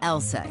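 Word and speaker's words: LSEG: be a bit misleading take ours for instance pronounced Elsa AKA London Stock Exchange group sure we're in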